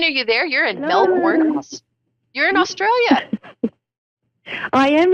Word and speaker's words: Melbourne: How do you say Melbourne? Melbourne, exactly how you said it, Melbourne.